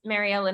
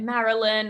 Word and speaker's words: Mary Ellen: My name is Mary Ellen, and I often get Marilyn or Marilyn, like just kind of falls apart in their mouth.